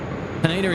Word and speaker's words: Haneda: And Aussie Wild Horse is saying, Kurt, Haneda is pronounced Haneda.